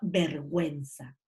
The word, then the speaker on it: vergüenza: ¿Cuándo la pronuncio? Cuando aparecen las cremillas. Y las cremillas son un elemento ortográfico, que son los dos puntitos que van arriba de la vocal y que indican que en este caso sí la tienes que pronunciar, ¿ya? Cuando yo digo, por ejemplo, vergüenza.